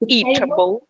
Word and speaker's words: eatable: То есть eatable. Eatable, ударение на eat, eatable.